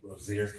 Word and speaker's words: Rosier: How do you pronounce your last name? Rosier. Rosier. Sorry. Apologize for mispronouncing.